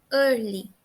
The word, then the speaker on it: early: A observação específica aqui é que early a gente não pronuncia a letra E. Reparem que a gente não escuta o som da letra E. Então, a pronúncia mesmo vai ser early, tá?